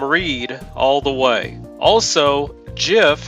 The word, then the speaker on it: GIF: Also, GIF has a soft G like giraffe.